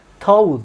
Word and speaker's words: Tau: Tau diye okunur.